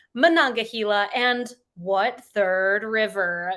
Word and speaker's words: Monongahela: of the alleghenyahila mananga Gila that's how you say it Monongahela and what Third River